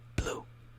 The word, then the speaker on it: blu: we have blue now there's gonna be an accent on the U so it's gonna be quick like blue blue blue blue blue blue it's like it's like saying blue but just cut off like half of like the oh just blue